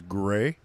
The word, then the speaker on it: Grey: Not to be mispronounced Gary or anything else. It is Gray. Like Grey's Anatomy.